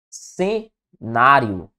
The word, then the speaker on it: cenário: Cenário. Opa, a sílaba tônica é a penúltima, portanto, uma paroxítona.